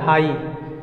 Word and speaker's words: high: लेकिन एक ट्रिक बताए कि GH हमेशा साइलेंट होता है, यानी HI यहीं तक साउंड होता है। HI हाई, THI Thai, SI साई, GH हर वर्ड में साइलेंट है।